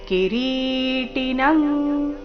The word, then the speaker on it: ಕಿರೀಟಿನಂ: ದೀಪ್ತಾನಲಾರ್ಕದ್ಯುತಿಮ ಪ್ರಮೇಯಂ ಕಿರೀಟಿನಂಗದಿನಂಚ ಕ್ರಿಣಂಚ ಕಿರೀಟಿನಂ ಕಿರೀಟಿ ರಿ ದೀರ್ಘ ಟಿ ರಸ್ವ ಕಿರೀಟಿನ ಆದ ನಂತರ ಬಂದಿರುವ ಅನುಸ್ವರದ ಉಚ್ಚಾರಣೆ ಕ ವರ್ಗದ ಅನುನಾಸಿಕ ಕಿರೀಟಿನಂ ಗದಿನಂಚ ಕ್ರಿಣಂಚ ಮುಂದಿನ